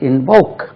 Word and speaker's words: invoke: then பிரார்த்தனை செய், கெஞ்சி கேள், கடவுளிடமோ யார்கிட்ட, invoke, invocation சொல்லுவோம். invoke, I-N-V-O-K-E, invoke, stress lies on the second syllable.